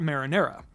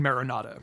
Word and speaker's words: Marinada: Thunderbolt can be found as a TM over by Port Marinara. I mean Marinada, I know it's pronounced that.